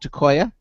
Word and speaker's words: Tekoia: us a little bit first of all I'm pronouncing the company name correctly is it called tooa okay right so uh tell us a little